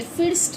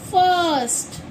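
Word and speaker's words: first: या फिर जैसे कि हमने कोई भी वर्ड लिया हमने ले लिया एफ आई आर एस टी। तो इसे आप क्या पढ़ेंगे? फिस्ट पढ़ेंगे या फाइटस्ट पढ़ेंगे? नहीं। हम इसे पढ़ेंगे फर्स्ट।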